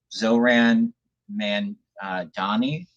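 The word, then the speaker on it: Zohran Mamdani: Zohran Mamdami, I think is how you pronounce it.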